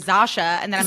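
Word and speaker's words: Zosia: How do you pronounce it? Zasha.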